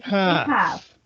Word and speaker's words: half: the word the l the l in half is silent so look right here